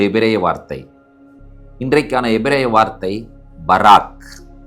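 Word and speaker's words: בָּרַךְ: வார்த்தை இன்றைக்கான எபிரேய வார்த்தை பராக் அதனுடைய எழுத்துக்களை உச்சரிக்கிறேன் பேத் ரேஷ் கேப்சோபித் உயிரெழுத்துக்களோடு உச்சரிக்க வேண்டும் என்று சொன்னால் பேத் காமட்ஸ் ரேஷ் பெட்டா கேப்சோபித் ஷவா இந்த கேப்சோபித்துக்கு உள்ள ஷவாவ போடுவார்கள் பராக் என்பதாகும் இந்த பராக் என்கிறதான வார்த்தைக்கு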